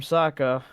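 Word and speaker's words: Sokka: he's like you know I'm Saka rhymes with waka waka I'll tell you what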